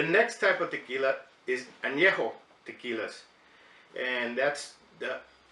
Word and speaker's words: Añejo: a beer the next type of tequila is Anejo tequila and that's the correct pronunciation it's not any joke because there's a accent over the end and